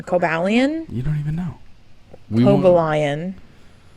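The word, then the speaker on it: Cobalion: don't want to hear it this Pokemon is Cobalt cobalian cobalian you don't even know lion spell it for me c-o-b-a-l-i-o-n the Iron Will Pokemon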